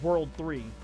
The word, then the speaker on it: WWW: Well, it's spelled WWW, but it's really just said as World 3.